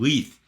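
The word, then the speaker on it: Leith: this one sunshine on LEF not light Sean come on leth because it rhymes with Chief in the in the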